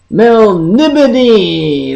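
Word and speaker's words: Melniboné: reading of el of M Mel oh jeez Mel nibon that's how you pronounce it Mel nion this illustration is from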